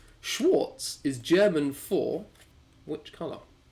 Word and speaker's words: Schwarz: It's Schwarz, by the way. Schwarz, not Schwartz. It's a V Schwarz. rather than a W.